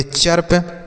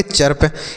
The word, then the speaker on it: chirp: CHIRP, इसे हम पढ़ेंगे चर्प। क्या पढ़ेंगे? चर्प।